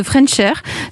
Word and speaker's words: Frenchr: Vous avez 28 ans, vous êtes le cofondateur de French Air. Donc ça s'écrit French, oui. F-R-E-N-C-H avec un R, tout accroché.